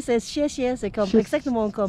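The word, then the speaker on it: 谢谢: Ouais, c'est très bien prononcé, c'est siessie, c'est comme exactement comme... Siessie.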